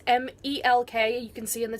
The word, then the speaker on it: Melk: out to see the town of milk that's mal que you can see in